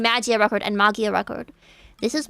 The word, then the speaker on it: Magia Record: You may notice I switch between saying Magia Record and Mia Record. This is because Mia Record is technically the correct pronunciation, but it sounds more normal to say Mag Record in English in it from the start.